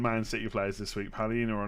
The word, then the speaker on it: Paulinho: Paulinho. It sounds the same. The guy on YouTube says Paulinho. You said it right the first time.